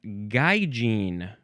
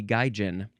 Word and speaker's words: gaijin: Next is gaijin, or could also just be gaijin. So gaijin, that's the first pronunciation, so that's what I'll say.